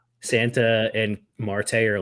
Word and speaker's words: Marte: Mart how do you say his name easy Marte Marte Marte all right who's who wins so